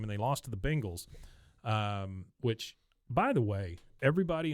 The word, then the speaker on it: Bengals: night football game and they lost to the Bengals, which, by the way, everybody on TV who's an announcer, learn how to say the word Bengals, not Bengals, Yeah, they say because the I Bengals.